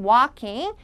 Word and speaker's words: walking: regular walking. walking은 즐거운 일이니까 입을 크게 적극적으로 벌리세요.